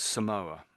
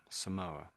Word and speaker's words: Samoa: So this is pronounced as Samoa. Samoa Samoa.